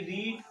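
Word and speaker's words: read: होती है, तो इसीलिए रीड का थर्ड फॉर्म रेड हो जाएगा। बच्चों, इंग्लिश वही लिखी जाएगी, स्पेलिंग इसकी, लेकिन थोड़ा सा प्रोनाउंसिएशन थोड़ा सा चेंज हो जाएगा, बस बाकी सारी चीजें वैसे।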